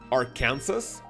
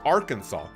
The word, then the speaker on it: Arkansas: state called like like you basically type it our Kansas, but but why the is it pronounced Arkansas? Huh?